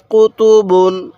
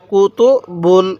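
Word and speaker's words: كُتُبٌ: কুতুব বুন কুতুব বুন এগুলোর মধ্যে কোন টান হবে না খেয়াল রাখবেন বা এর উপর যে দুই পেশ দেখতেছেন এই দুই পেশকে তানবিন বলে আর তানবিনের উচ্চারণ বাংলায় দোনান্না উচ্চারণ হয় তাহলে কুতুবুন কুতুবুন এরকম ভাবে শিখবো এরপরে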